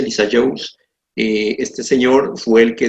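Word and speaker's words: Lissajous: mi mano okay continuamos figuras de Lisa Jones así se pronuncia Lisa Jones este señor fue el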